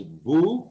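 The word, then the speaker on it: 武: musha is this musha so this kanji is better pronounced as buu as bujutsu bushi budo what's interesting here is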